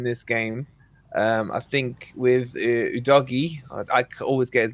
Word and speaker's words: Udogie: I think with Udogie, I always get his name. Is that how you meant to pronounce it?